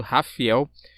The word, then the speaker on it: Rafael: Rafael, é isso mesmo, não estou pronunciando errado, Rafael.